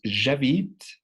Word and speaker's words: j'habite: En j'habite, la E final tampoco tiene sonido.